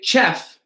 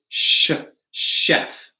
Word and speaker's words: chef: This is a French word, a cook, right? So we don't say chef, it's chef.